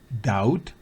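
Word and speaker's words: doubt: es peinilla o peinarse recuerde es muda quiere decir que no se pronuncia daut Dead Climb la d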